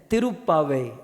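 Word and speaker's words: तिरुप्पावै: अब थोड़ा सा साउथ में जाना है, प्रोनाउंसिएशन सीख लीजिएगा। सो ये साउथ इंडियन की लैंग्वेज है, तिरुप्पावे।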